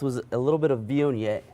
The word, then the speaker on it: Viognier: And what I like to pair this with was a little bit of Viognier. Viognier, Yes. that's how you say it. Viognier.